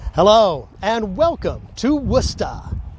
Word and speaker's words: Worcester: hello and welcome to wusta not pronounced the way it is spelled we're at worcester airport